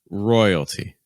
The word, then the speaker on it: royalty: Royalty. Royalty. Notice that we maintain the T sound for this word. It's like royalty. The T is going to be super weak, super fast, super low in pitch.